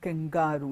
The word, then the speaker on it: kangaroo: The stress does not fall on the word kangaroo.